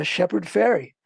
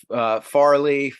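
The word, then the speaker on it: Shepard Fairey: saying it right right it's not it's it sounds like sounds like the goes across the yeah yeah people always want to say Farley faray I'm like no no it's just like tooth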